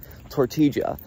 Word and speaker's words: tortilla: from the Western world, the double L glyph is pronounced like J in all the South and Central American countries. We should be pronouncing the corn chip tortilla.